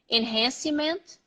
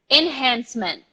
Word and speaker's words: enhancement: an and the Cee maybe some people emphasize overemphasize the city like enhance see enhance cement or enhance image something like that so the C II is just an S this is a